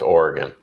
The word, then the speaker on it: Oregon: It's Oregon. It's It's like saying Oreo but no O and replace the O with a gun.